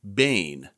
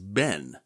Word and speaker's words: Behn: a doctoral student, and my professor at the time pronounced her surname Behn, and that's kind of what I've become used to. While refreshing my knowledge of her for this episode, I discovered that the proper pronunciation is Ben.